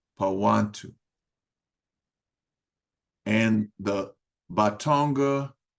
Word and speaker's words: Punt: pantu they you know people usually say punt but they the way that they say it is pantu and the batonga B